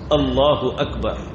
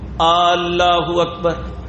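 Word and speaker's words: الله أكبر: लफ्ज क्या बोलते हैं अल्लाह हू अकबर अब बाज लोग पंजाबी में लफ्ज को लंबा करते हैं अल्लाहू अकबर अब इसका माना ही बदल गया अल्लाह ह अकबर का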